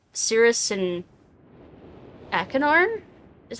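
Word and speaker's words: Achenar: at least look forward to how Cirrus and Akinar, is how you pronounce that, will react to its curious inhabitants.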